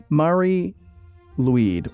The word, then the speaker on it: Mari Lwyd: Number 4, and I'm totally going to mispronounce this. It's Mari Lwyd, or the Grey Mare.